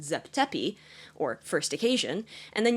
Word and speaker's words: Zep Tepi: And so you have the first creation at the very beginning of time which in Egyptologies is pronounced Zep Tepi or first occasion, and then you have the